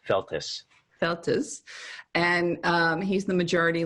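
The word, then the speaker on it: Feltes: So you then are directly going head-to-head with Dan Feltz. Is that his last name? It's 2 syllables, Feltus.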